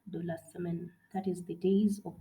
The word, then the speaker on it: semaine: The second one, semaine, semaine.